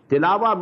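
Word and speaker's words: تلاوة: Tilawa means to recite, which we call in Urdu tilawat. In Arabic we have to pronounce it as tilawa.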